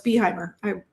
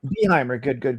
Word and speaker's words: Behimer: Another Crooked Spine Show guest for our podcast, Behimer. Is that how you say it? You're so close, Behimer. Behimer. Good.